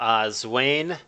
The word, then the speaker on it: Zwain: Fine, Zwain rhymes with Candy Cane, which is a Christmas.